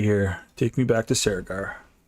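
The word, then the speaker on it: Cerrigar: Take me back to Saragar. Karagar. It looks like it's spelled Saragar, but it's spelled Karagar.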